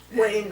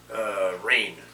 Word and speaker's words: Rain: Wayne And, Worthington? Yeah, Rain Worthington, the treasurer. Is the first name Wayne? Rain. Rain? Rain. How do you spell it? R-A-I-N.